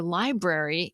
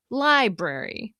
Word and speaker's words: library: compare the word for library in English versus Spanish. In English, we say library, stressing the L sound and saying it more clearly than the brary part. Library, library.